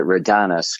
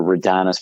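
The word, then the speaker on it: Raudonis: The my real last name is Roonus, but I pronounced it redonus growing up. It's really complicated spelling. R A U D O N I S. We were redonest.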